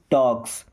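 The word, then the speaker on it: talks: Nobody मी्स कोई नहीं टॉक्स यहां पर एल साइलेंट है।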